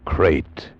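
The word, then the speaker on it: krait: Tonight we escape to India and the story of a man trapped in his bed by a crate.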